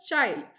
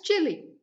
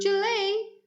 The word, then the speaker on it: Chile: it is pronounced as chili okay it's pronounced as chili and in a no sorry in spanish they pronounce it as chile yes it's pronounced as chile in spanish but in normal english